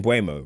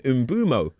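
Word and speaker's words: Mbeumo: I was going I used to say Bumo, right? And everyone started saying I was saying it wrong and then he did a thing and he said his name was Umbumo.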